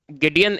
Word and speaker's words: Gideon: गिडियन इज a manufacturer, तो अब pronunciation matter तो नहीं करती ऑब्वियसली, आप लोग